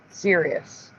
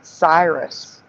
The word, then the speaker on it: Sirius: Sirius. Yeah. Right. Like I remember. And Teresa remembers it pronounced Cyrus. But it's always been serious.